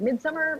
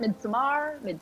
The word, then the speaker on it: Midsommar: I always say it wrong. I'm like Midsummer. Midsommar.